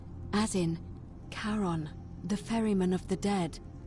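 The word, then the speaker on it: Charon: you described it only your pronunciation is a little off the name you heard wasn't Karen it was c h a r o n as in Caron the ferryman of the Dead karon who in exchange for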